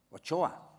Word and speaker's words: Ochoa: y y y y la TX en en la región bascongada eh se pronuncia como la che no eh o Choa mi apellido lobo no